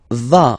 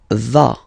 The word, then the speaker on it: vas: Tu vas. Final S doesn't exist. Tu vas.